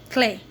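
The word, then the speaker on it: clé: Now key, clay. Key in French is pronounced as clay. So correct spelling is C-L-E.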